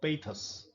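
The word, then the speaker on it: pathos: Lamb begins the essay with an element of humour and ends it with an element of पेथस। ये शब्द spelling देखिए आप, इसका pronunciation रहेगा पेथस। अपने एसेज में ह्यूमर का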